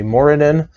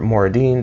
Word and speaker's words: Moradin: of our dwarven deity, especially Moradin, or Moradin, depending on how you want to pronounce it.